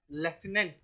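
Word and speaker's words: lieutenant: और लास्ट में होगा चिटी इसको बोलते हैं लेफ्टिनेंट बट लिखते कैसे हैं झूठ तुम 10 और चटी ठीक है ये उसका स्पेलिंग होता है एल आई ई यू टी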